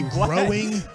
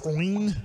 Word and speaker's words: groin: always hate that word I always say growing but it's groin if I'm trying to say it right one more time for